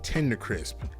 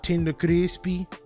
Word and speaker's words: Tender Crisp: It was a Burger King Tender Crisp. That's how you say it. When she said it and people used to ask for it, she used to always say, okay, Tender Crispy.